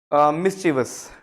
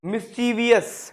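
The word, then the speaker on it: mischievous: देखो पहला word मिस्चीवस. मिस्चीवस, बट हम बोलते क्या है, मिस्चीवियस. मिस्चीवियस बोलते हैं ना बहुत.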